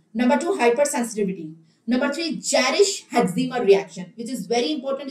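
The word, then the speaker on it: Jarisch-Herxheimer: Pronounce it clearly. It is Jarisch-Hexema.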